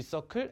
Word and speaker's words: circle: 근데 제가 알기로는 공식 명칭은 G circle F예요. 이걸 서클이라고 읽는 것이 맞습니다.